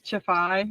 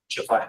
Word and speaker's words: Chafai: It's Chafai. It's a Maltese name. Tricky. Chafai.